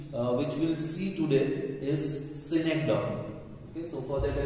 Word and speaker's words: synecdoche: It is pronounced as synecdoche. Okay, or even the people say synecdoche. It is synecdoche.